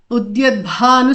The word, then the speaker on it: Udyatbhanu: Udyatbhanu Sahasrabha. So here Udyatbha Bha is actually there is a ha there.